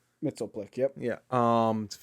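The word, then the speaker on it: Mxyzptlk: sleuthor Bizarro Mr mitzeplic yeah that's how you pronounce that name yeah Mr Mitchell Plick Mitchell Plick yep yeah um it's a bunch of just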